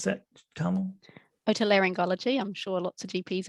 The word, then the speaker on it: otolaryngology: So we have one here called EAR, earlobe, who is, how do you pronounce that, Carmel? Otolaryngology.